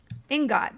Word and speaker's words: ingot: Ingot. But since you're hesitating to say it, say like the word spigot.